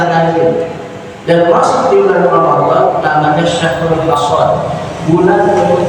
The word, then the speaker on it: Ramadan: Ini yang puasa awal itu selama wajib an-adai babi syahri, yang lebih tepat bacanya adalah Ramadan.